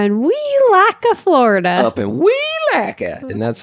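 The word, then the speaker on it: Welaka: comes out we're in we lack of florida we lack it and that's how you have to pronounce it actually i think if you're from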